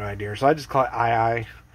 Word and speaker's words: Ae Ae: way i've heard it it's ii said with a hawaiian native hawaiian language accent kind of thing it's spelled a-e-a-e